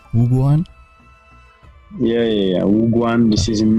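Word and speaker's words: 武馆: Wuguan?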